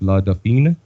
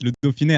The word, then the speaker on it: Le Dauphiné: I found an interview that you did with, I believe it's pronounced La Dauphine. La Dauphine. It's a newspaper or an online thing. Man, how did you? Oh my God, it's Le Dauphiné.